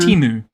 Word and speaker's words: Temu: Temu. Well, I only see it in writing, so I never hear anybody say it. But Temu is taking on a derogatory meaning, as in calling Peter Dutton Temu Trump.